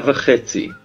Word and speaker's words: v'chetzi: Sha'a v'chetzi. Sha'a means hour or 1 hour. Ve means and. In this case, before this word chetzi, we pronounce it as va instead of ve.